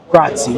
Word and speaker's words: grazie: Grazie. And I was saying grazie. But if you learn that the E is actually pronounced A, so it's actually pronounced grazie.